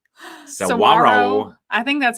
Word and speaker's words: Saguaro: And then the one that I cannot pronounce. Saguaro.